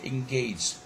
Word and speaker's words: engage: the gauge gauge okay when you say engage so what happens that you know it is actually the stress falls on the last syllable okay gauge but this is